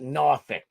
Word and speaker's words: Norfolk: It's spelled Norfolk. Norfolk, but we call it Norphick.